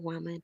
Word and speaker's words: womban: so i am reigning woman and that is spelled w-o-m-b-a-n and the b is meant to be silent but you can use the b if you want but it is symbolic i said it